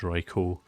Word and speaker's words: Raikou: I had the actually people telling me that it's actually pronounced Raikou, which does make sense, because, you know, it just does.